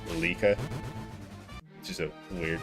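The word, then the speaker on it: Leike: L-E-I-K-E, but it was actually pronounced Lika.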